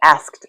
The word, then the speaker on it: asked: You would say asked asked. I asked a question, not asked, just asked because you can add that t sound to the end without adding another syllable.